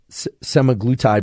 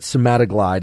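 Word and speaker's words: semaglutide: many things it seems semi-glutide is the the way i would pronounce it s-e-m-a-g-l-u-t-i-d-e um semi-glue tie but that's not the way you pronounce it but somatoglide is the way that it's been described on the internet in any case this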